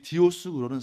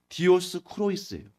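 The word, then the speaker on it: Διόσκουροι: 이 디오스 구로는 사실 원어 그대로 말하면 디오스 크로이스예요.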